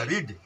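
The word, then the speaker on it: read: अच्छा, वर्ब में यहाँ क्या है, भी है ना, रीड। तो रीड का क्या होता है, रीड, रेड, रेड, ऐसे चलता है।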